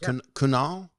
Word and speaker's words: Kunal: appreciated that so uh is your name pronounced kunal yeah you nailed it absolutely oh excellent excellent